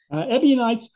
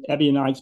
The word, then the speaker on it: Ebionites: know but uh but I I pronounce it ebionites because that's that's the way it looks like in in English when you write right out the word but if somebody comes